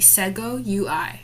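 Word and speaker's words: Segoe UI: And the font family will be Sego UI. I finally learned how to pronounce it.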